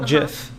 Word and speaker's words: GIF: to think and then the person who made the gifts wanted to call it jif and i was like